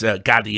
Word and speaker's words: Gadde: It's Gadde, I learned now. I mispronounced their name loads on all the other videos, but it's Gadde, like that guy who says these nuts.